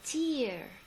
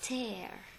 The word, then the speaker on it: tear: it it's cold a tear see here you notice the difference in pronunciation it's the same word same spelling but different pronunciation and the difference meaning